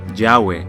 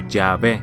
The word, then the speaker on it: YHWH: Nadie sabe realmente cómo pronunciar esto porque estuvo fuera de uso durante tanto tiempo, pero muchos creen que la pronunciación más probable sería Yahweh o Yahvé.